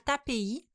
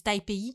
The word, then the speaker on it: Taipei: sont rendus dans la région de la capitale Taipei le 26 janvier 2023 au soir. Ça fait 1 an, mais ça a connu un dénouement il n'y a pas longtemps. Taipei? Oui, excuse-moi. Ouais. J'ai dit Taipei.